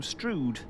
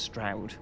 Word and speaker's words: Strood: We're driving from uh Tumbridge up to Strude, which I have just been informed is pronounced Straoud.